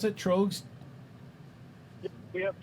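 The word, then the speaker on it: Tröegs: That's how you pronounce it, Trogs? Yeah, we have Trogs.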